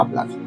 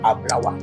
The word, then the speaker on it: Ablawa: C'est Ablawa, j'entends. C'est pas Ablavi. J'entends quelque chose comme Ablawa.